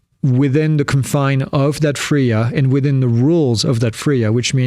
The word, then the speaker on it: FRIA: It's pronounced Fria, not Fria. It's Fria because the I is for identification just like GIF is GIF because it's graphical.